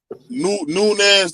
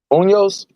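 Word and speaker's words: Muñoz: Nunez that played for the Bengals. Munoz? Unos, yeah, so I said his name wrong.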